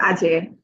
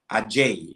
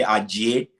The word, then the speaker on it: Adjei: Yeah, well, I think it's a Nigerian way of pronouncing, which is fine. But back in Ghana, you say Ajay, or back home in my Okay. hometown, you say Ajay. So Ajay is fine.